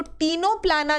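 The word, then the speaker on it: Ctenoplana: है क्या टीनो पलाना जिसमें सी साइलेंट होता है तो टीनो पलाना जो था टीनो पलाना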